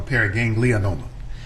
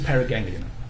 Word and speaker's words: paraganglioma: Doctor, just for clarification, is it pronounced paraganglioma or paraganglionoma? I often add in the extra vowel, so it's a paraganglioma.